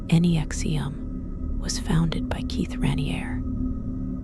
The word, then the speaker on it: NXIVM: NXIVM, pronounced Nexium, was founded by Keith Raniere, a man who presented himself as one of the smartest people in the world.